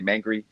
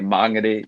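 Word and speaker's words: Māngere: So I think learning about that, getting my pronunciation right, sometimes I always want to say mangry, but I know that I have to say mangere, now, and I think it's just showing respect.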